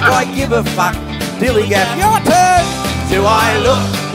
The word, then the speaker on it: DILLIGAF: And I can relate to their attitude too in a word, dillygaff. That's spelled D-I-L-L-I-G-A-F, dillygaff.